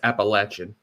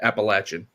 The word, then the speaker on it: Appalachian: It's Appalachin. Appalachin. I apologize. Last week someone someone put the someone we've been saying it wrong. I think the whole season. Appalachin.